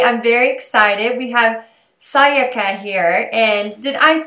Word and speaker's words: Sayaka: We have Sayaka here. And did I say that right? Yeah, that's right. That's a more Japanese sounding pronunciation Oh, than most people.